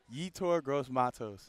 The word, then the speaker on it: Yetur Gross-Matos: Yetur Gross-Matos.